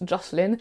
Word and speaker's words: Jocelyn: un quiproquo parce que jocelyn en anglais ça se prononce joslyn et jocelyne c'est bien